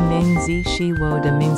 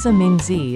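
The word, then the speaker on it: 名字: Ni is third tone, jiao is fourth tone, shen mi xian mi is second tone, mingzi is second and fourth tone.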